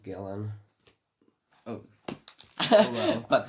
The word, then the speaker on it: Gillian: It's like I think it's pronounced Gillen.